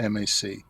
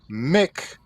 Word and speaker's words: Mac: origins of MC and MAC. MC and MAC are exactly the same. They mean son of, and they're both pronounced the same. They're pronounced Mac, not Mick for MC, and not Mac for MAC.